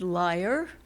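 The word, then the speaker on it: lyre: all do and um this poem is called is named liar is spelled l y r e however you might be hearing it and it is speaking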